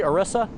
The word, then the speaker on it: Orisa: Orisa. Kind of like got a ram's... Yes, it's Orisa. Is that All right. pronounced correctly? Orisa?